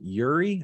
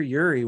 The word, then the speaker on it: Uri: time what changed was winter storm yuri i think is how you say it uri in 2021 february of